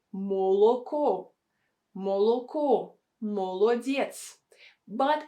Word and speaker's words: молодец: Next word is молодец. Молодец. Молодец. We don't say молодец. We say молодец. Молодец. We have a stress on the last syllable, and two O are not stressed.